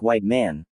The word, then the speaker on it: Whitman: My name is Whitman, pronounced White Man.